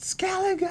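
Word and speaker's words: Skellige: Gosh, it's pronounced Skeleigga.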